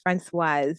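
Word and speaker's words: Françoise: It's pronounced Francoise. It ends with an E. Francoise.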